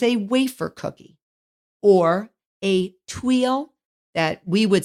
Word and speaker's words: tuile: would say in America, or a tuile if we were in France. And it is French for roof tile. It is spelled Tuile, tuile. I just say tuile in English, but it uses high amounts of fat and sugar.